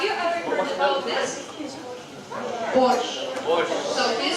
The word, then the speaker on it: borscht: Borscht. So, can you spell it once again? Borscht.